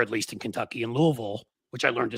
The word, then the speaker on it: Louisville: least in Kentucky, in Louisville, which I learned to say right too. You have to say it like you got food in your mouth. You can't say Louisville. Louisville.